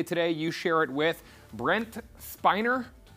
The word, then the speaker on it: Brent Spiner: If you're celebrating a birthday today, you share it with Brent Spiner. Brent Spiner. Okay, thank you for the correction on the pronunciation.